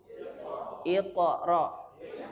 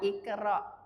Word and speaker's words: Iqra: Iqra. Bukan ikra.